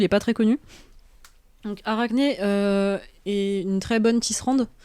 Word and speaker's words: Arachné: C'est la dernière syllabe qui va pas. Arachné.